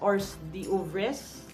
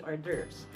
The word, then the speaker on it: hors d'oeuvres: time pronouncing that now whom Baba said Messiah phonetically you would read it as oars the ovaries we're actually ambassador and would be hors d'oeuvres so you monkey dong bag I again would